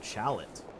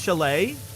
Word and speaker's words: chalet: Chalot.